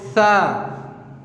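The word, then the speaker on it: ث: What you have to do is put your tip of the tongue in front of the above teeth, front teeth, and try to pronounce it like sa. Sa. Just put your tip of the tongue on your front teeth and try to pronounce it like sa. It sounds like sa.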